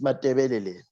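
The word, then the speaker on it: Matabeleland: Well, the proper pronunciation is Mathebeleland.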